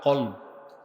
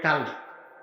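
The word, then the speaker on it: قلب: এটাকে আরবিতে বলা হয় কলব। কি বলা হয়? উচ্চারণ ভুল করবেন না। অনেকে বলে কালব। কালব মানে কুত্তা, আর এটা হচ্ছে কলব।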